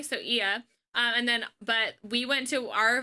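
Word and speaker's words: Oia: So Ia, which is spelled O-I with a little ding and an A. So Ia.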